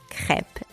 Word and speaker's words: crêpe: this episode so now you know how to pronounce crep in French thank you for tuning into forless